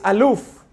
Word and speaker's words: aleph: others don't do that the letter aleph the way it's pronounced is aloof which means the wondrous one